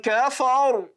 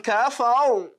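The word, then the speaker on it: كفر: قَالَ وَمَنْ كَفَرْ that is tafkhim.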